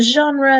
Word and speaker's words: genre: TV for books and we use the French pronunciation there as well in general genre okay so we want